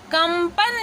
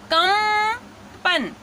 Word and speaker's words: कंपन: उसी तरह कंपन लिखना है तो हमने यहाँ पे क्या लिखा, कंपन, ठीक है। तो ये यहाँ पे म का साउंड है और यहाँ पे न का साउंड है, कंगन, ठीक है।